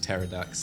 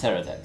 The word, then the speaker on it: pterodactyl: to De develop ax you don't pronounce the P it's just pterodax terod oh there silent P silent P sounds so wrong I